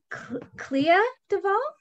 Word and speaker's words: Clea DuVall: the end about how much she loves uh clea duvall is that how you say her name yeah